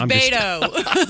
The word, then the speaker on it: Beto: It's Beto.